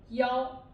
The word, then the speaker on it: 幺: But if it's in the telephone number, we don't say it E anymore. We say it 幺. Yes, 幺. We say the 幺, but not E.